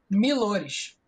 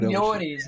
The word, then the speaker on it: Millores: Meu sobrenome não tem mistério, é da é da forma como se escreve. Milores, só isso. É milores. Só isso. Tem gente que acha tem gente que melhores, Mores.